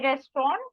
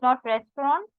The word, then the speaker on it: Restaurant: What do we say restaurant? It is not restaurant. Spelling is again same. Pronunciation, you need to take care.